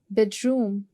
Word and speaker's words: bedroom: Bedroom. Bedroom में you'll go for first syllable which is bed.